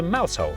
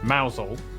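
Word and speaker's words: Mousehole: head over to rampam Ransom then down to mous hole mous hole next travel North up to toester toester then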